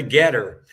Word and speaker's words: GETTR: the most effective on Getter. So if anyone is on Getter, that's spelled GETTR, and it'll be at